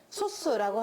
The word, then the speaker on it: 소수: 딱 약수가 2개인 수, 소수라고 합니다. 읽을 때 그냥 소수라고 읽지 않아요. 소수는 왠지 0.3 같은 그런 수잖아요. 이거는 그냥 강하게 소수 이렇게 읽어줍니다.